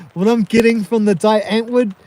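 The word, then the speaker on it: Die Antwoord: ring trips is okay D antwood is pronounced d an VOD okay man all right we're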